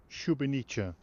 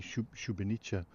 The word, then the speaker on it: Szubieniczne: to a place called, be kind enough to pronounce it please in Polish, Szubienica. Szubieniczne. And in German this was known as Galgenberg, I believe, but in Polish obviously Szubieniczne.